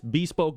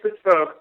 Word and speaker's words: Bespoke: It's Bespoke, but most people pronounce it Bespoke, and either way, it's spelled the same way, so that works for us.